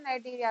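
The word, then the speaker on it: Cnidaria: फिर नाइजरिया ठीक है यह स्पेलिंग सी से शुरू होती है लेकिन इसका सी साइलेंट होता है इसलिए इसको क्या कहा जाता है नारिया कहा जाता ठीक इनके कैरेक्टर क्या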